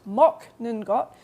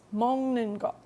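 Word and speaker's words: 먹는 것: we have mongot and be careful it's not pronounced mock ninot it's mongot so that means eating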